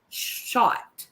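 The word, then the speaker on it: Schacht: his name was larry s s-c-h-a-c-h-t shot i think i'm saying it correctly it's s-c-h-a-c-h-t i'm pronouncing that as shot and or shocked i would too hi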